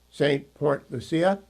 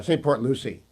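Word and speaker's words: Port St. Lucie: new affiliate in um St. Port Lucia. Uh St. Port Lucy. I've done that. I've been pronouncing it in the Spanish way.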